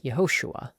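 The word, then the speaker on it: Yehoshua: When this vowel appears at the beginning of words, it makes a short e sound as in men, hence Yahosua.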